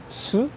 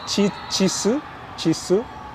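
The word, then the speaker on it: つ: Tem muita pronúncia que existe no japonês, tipo tsu, o brasileiro fala chisu, só que ele é tsu, né?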